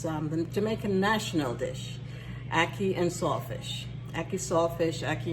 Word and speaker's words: ackee: Ackee is pronounced Ackee, A-C-K-E-E.